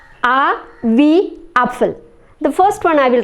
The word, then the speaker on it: Apfel: A wie Apfel. The first one I will write on the board so that you can have a look at it. A wie Apfel. So we pronounce this word apple, Apfel.